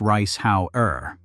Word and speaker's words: Reishauer: Reishauer, pronounced rice how er, of just outside Zurich,